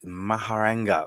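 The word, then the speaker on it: Mehrangarh: Angel no it's the like I said the maharena fort oh and uh yeah wish I could uh spell it correctly but yeah uh it is I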